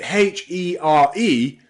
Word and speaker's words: here: But H-E-R-E, here. So you can see the magic E at the end changes the first vowel sound from in her to ear in here, okay?